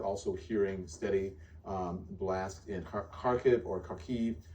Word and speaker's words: Kharkiv: kiev clarissa ward also hearing steady blast in kharkiv or kharkiv harcave uh is how she is pronouncing it there and that just happened moments